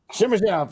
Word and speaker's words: Simashev: I'm not gonna pronounce Simashev? Simishev.